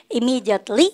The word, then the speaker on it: immediately: M이 두 번 겹치면 발음은 몇 번만 때리자? 한 번. 그죠? 쌤 없어져도 그렇게 하셔야 돼요. 그래서 우리가 immediately 한 번 하시는 거예요.